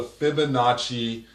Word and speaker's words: Fibonacci: So the word Fibonacci definitely sounds like it's an Italian word.